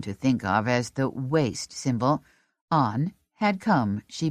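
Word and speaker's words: W.A.S.T.E.: But she'd pronounced it like a word. Waste. His face congealed. A mask of distrust. It's W A S T E lady, he told her, an acronym, not waste, and we had best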